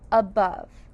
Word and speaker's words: above: A that we hear in that first syllable again sounds like a u but it's that schwa a above. Let's sound out. Bbove. Bing that b sound. Uh sounds like a short U, but it's spelled with an O here.